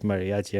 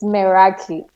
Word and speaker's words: Meraki: you work on Mariachi I call it Mariachi and she loved it she couldn't tell me how they pronounce it so I think it's merachi it's Meraki it is pronounced as it is Meraki m-e-r-e-k-i Meraki Tracy is the founder